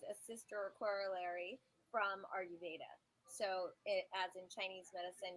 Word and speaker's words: Ayurveda: And so explain to everyone about, and I have a hard time pronouncing the word, Ayurveda? Is that how you say it? Yeah, so Ayurveda is 5,000 years old.